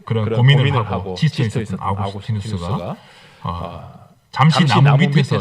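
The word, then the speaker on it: Augustinus: 아스티누스는 우리 초기 기독교 교리 기초를 놓은 위대한 신학자인데요.이 아우스티누스가 영어 발음을 하면 어그스틴입니다.이 당시에는 라틴를 썼기 때문에 이제 아구스티누스라고 부르는 것이 조금 더 좋겠는데요.이 아구스티누스는 자신의 저서인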